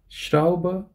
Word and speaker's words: Schraube: So whenever you have SCH, okay, there is no T. So you say it like sure, okay? Say it like sure and not sir. There's a difference, right? So you say it like sure of what? So you can think of show. You know, how do you say show? You say show and not so.